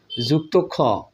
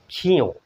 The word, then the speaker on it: ক্ষ: বন্ধুরা এটাকে কি বলে অনেকে যুক্তক্ষ বলে পড়ে কিন্তু কখনোই যুক্তক্ষ হিসেবে পড়া ঠিক না এইটা কিন্তু হবে খিয় এটাকে আমরা কি উচ্চারণ করব খিয় তাহলে আজকের পর থেকে আমরা বাচ্চাদেরকে পড়াবো বা আমরা পড়বো খিয় কখনোই যুক্ত খ নয় ঠিক আছে এরপরে দেখুন